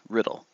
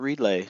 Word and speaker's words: Riddle: That's right, Riddle. Not relay, not readla, not Rydell, not Riddell. Riddle. Just like it's spelled.